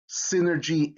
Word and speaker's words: synergy: if you see it in words derived from greek y usually makes the short i sound that's a if you know your phonics right so you have epinim synergy in synonym in that y has an i sound all right let's take